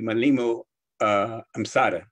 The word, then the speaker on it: Mwalimu Amsata: appropriate pronunciation of my name would be Mwalimu Amsata. Full is Mwalimu Amsata, but I was born